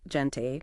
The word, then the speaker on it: gente: Before E or I, it's that X sound, like gente, people, sexen, p.